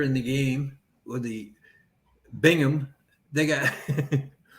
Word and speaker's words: Birmingham: the game with the bingham they got they spelled birmingham just like slick pronounced it it's like broom b-h-a-m skip all the rest of